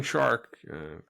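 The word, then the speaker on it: Szwarc: to hire a director whose last name rhymes with shark uh I think uh it's a how do you say it's poetic it Rhymes it's like poetry Rhymes you know John John shark he did a lot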